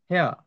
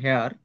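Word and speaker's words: hair: হেয়া, হেয়ার। এমনি তো নর্মালি আমরা উচ্চারণ করি হেয়ার, কিন্তু এটার উচ্চারণ হবে হেয়া, হেয়া, হেয়া।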